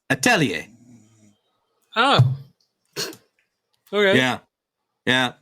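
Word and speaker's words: atelier: wrong for years now how I was saying it is adelir because that's how it's spelled yeah a t e l i e r ad to okay gotcha but how it's actually said is aell oh okay yeah yeah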